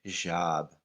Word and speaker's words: hijab: a job or job it's spelled h-i-j-a-a-b i believe hijab and the j makes a drop sound so hijab like like sobs like you know like